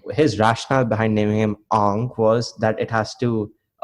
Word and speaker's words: Aang: So what his rationale behind naming him Ong was that it has to match Asian culture. Like, you know, if you stay in wherever, like in Southeast Asia, it would be pronounced Ong, not Ang.